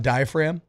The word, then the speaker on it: diaphragm: I used to say diaphragm. Talking about diaphragm. No need to pronounce that G.